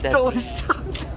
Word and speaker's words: Dulles: And Discovery's that I keep calling it Jules, but how do you pronounce it? At Dulles Airport. Dulles.